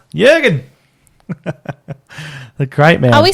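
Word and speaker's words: Jürgen: problem before top one uh yur gir is back oh that's right that's how you say it Jurgen the great man are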